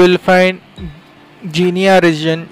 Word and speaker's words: Guinea: नीचे you will find जीनिया reason, जिसको जीनी GUINEA spelling है उसका, पर जीनिया रीजन भी बोलते हैं, जीनी रीजन।